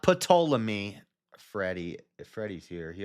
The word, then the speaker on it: Ptolemy: Specifically, the 4 heads were Cassander, Lysimachus, Seleucus, and Ptolemy, who inherited Alexander's domain after his death. Not Ptolemy. Freddie. If Freddie's here, he always says Ptolemy. The P is silent.